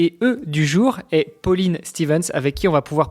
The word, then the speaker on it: Stevance: Pauline Stevens. Stevens, ok, c'est ça. Ouais, donc pas à l'anglaise quoi, c'est pas Stevens, c'est Stevens, ok.